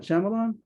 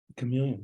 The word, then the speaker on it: chameleon: How do you pronounce that? Chamelon? Chameleon. yeah.